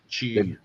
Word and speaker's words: chi: The how you pronounce that? Chi.